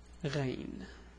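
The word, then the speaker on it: غين: Anyway, let's add the dot and pronounce it. It will be ra, ru, ri. Oops, I did the same mistake. Ri. So it's ra, ru, ri. And the name is Ghayn.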